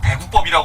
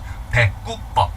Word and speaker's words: 대구법: 그 대구법이라고 하지 마세요, 어디 가서. 예. 무식하다는 소리 듣습니다. 대꾸법. 네, 대꾸법. 그 구자가 특이한 구자예요. 이 구절 구자인데, 이게 단어 앞으로 오면, 첫 음절에 오면 이제 구로 발음을 해요. 근데 둘째 음절부터는 꾸로 발음한다고.